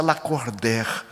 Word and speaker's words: Lacordaire: Ela disse: "Seu nome escreve Lacordir e pronuncia Lacorder."